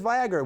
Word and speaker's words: Viagra: heart and then there's Viagra which rhymes with Niagara or sometimes this game